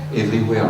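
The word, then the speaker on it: everyware: Everywhere, le mot anglais, sauf que la fin s'écrit W-A-R-E.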